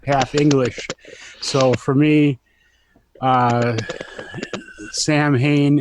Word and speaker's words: Samhain: So for me, Sam Hain is either Samhain or Samhain or Savin. So Yeah, my so friend, it's my friend it's Joanne told me it was pronounced Samhain.